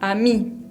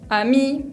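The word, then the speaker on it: amie: al final por ejemplo la palabra a mí a mí significa amiga pero pronunció hasta el ahí nomás la e no la pronunció tampoco se pronuncia la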